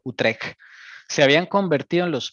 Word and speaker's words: Utrecht: llama Utrecht, se pronuncia Utrecht, esa CHT se pronuncia como una G de gato, Utrecht.